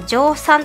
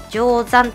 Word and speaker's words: 乗算: こちらにします前回までの動画で私全部乗算って言ってたんですけどそれは間違いで定山と読みますはいレイヤーを乗算